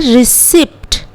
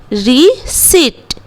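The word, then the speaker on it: receipt: हम लोग नहीं करेंगे जैसे बहुत कोई इसको इस तरह से उच्चारण करते हैं रिसिप्ट थिस इस रंग रिसिप्ट नहीं होता है रिसिप्ट होता है यहां हम लोग साइलेंट मानेंगे पी यहां पर साइलेंट है तो पी का उच्चारण हम लोग नहीं करेंगे सो वे बिल प्रनंसीएट रिसिप्ट री सीट ना की रिसिप्ट ओके बिल्कुल इस तरह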